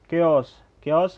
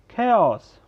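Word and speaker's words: chaos: केओस गलत है, खेओस.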